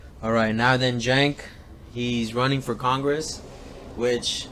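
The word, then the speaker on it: Cenk: That guy, man, if you don't know who he is, Jank Uyghur on TYT, spelled with a C, but pronounced Jank.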